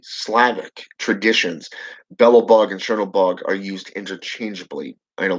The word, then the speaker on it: Chernobog: somebody squidward's works is it's c-e-r-n it's how it's pronounced it's the way they he spelled it but if you go into mythology and you go into slavic okay traditions it's actually ch okay it's a cherno bog okay brother of bella